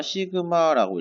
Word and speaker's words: 시그마: 이거는 어떻게 읽냐면 우리가 시그마라고 읽게 됩니다.